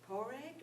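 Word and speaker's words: Pádraig: she's, no, that's spelled, it's pronounced, it's Poreg or O'Malley.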